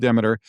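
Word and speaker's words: Demeter: So Demiter, I've also heard that pronounced Deer. We're going to go with Demiter, is the goddess of grain and seasons and harvests.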